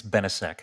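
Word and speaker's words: Benisek: brought a lawsuit and if i pronounce this right benziac versus lamone i think it's benesec senator thank you very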